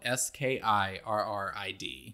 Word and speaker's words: Skirrid: So it's called Skirrid Mountain, but it's spelled S-K-I-R-R-I-D. So it kind of looks like how we might say, don't get scared.